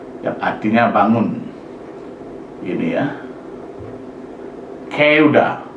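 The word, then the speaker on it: 끄다: Ini ya, keuda, bukan geuda, tapi keuda, keras ini.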